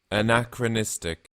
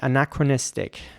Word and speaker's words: anachronistic: listen to it again anachronistic anachronistic anachronistic so the emphasis is actually on a second a here on this a anachronistic and I guess that